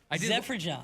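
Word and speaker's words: Zeferjahn: Producer Evan's giving me the eyes like, that's how you pronounce it. Zefferjon. I looked it up. Yeah, I looked up the pronunciation. Baseball Reference is really good with that most of the time, where they give you the pronunciation on the tough names.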